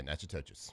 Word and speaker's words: Natchitoches: Have you ever done the Natchitoches Christmas lights? What do you think, being from Shreveport? Yeah, I guess that's right. N-A-T-C-H-I-T-O-C-H-E-S. Yeah, Natchitoches.